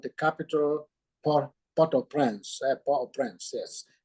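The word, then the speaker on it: Port-au-Prince: capital po po prance po prance yes pronouncing in French Po in French po prance in English pot of Prince well it's not it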